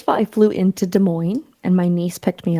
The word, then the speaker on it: Des Moines: going to go to Des Moines. And I was like, don't ever say the S again. Don't ever say the S again. I'm like, the S is silent.